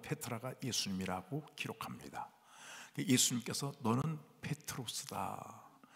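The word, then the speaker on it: Πέτρος: 베드로는 정확하게 헬라어로 한번 따보자. 페트로스. 페트로스라고 발음이 되는데 페트로스란 말은 돌이란 뜻입니다.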